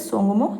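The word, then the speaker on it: Tsomgo: ये तय जो है ये साइलेंट हो जाता है, बाकी इसका पूरा नाम है तय सोंगमू। ठीक है, तो तय तो साइलेंट हो जाएगा, इसको कहते हैं सोंगमू झील।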